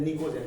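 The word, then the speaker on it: pnicogen: Called नाइट्रोजन family और निकोजन। ध्यान दो ये क्या लिखा हुआ है? पी साइलेंट है, पी को पढ़ा नहीं जाता, इसको बोलते हैं निकोजन।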